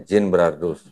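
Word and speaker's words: Genebrardus: Ginbrardus tulisannya. Bacanya Ginbrardus.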